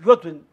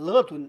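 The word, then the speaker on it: 乐僔: 人乐尊，这个乐尊我们他就有些人把读成乐尊，这是错的，他是一个人乐尊，哎，途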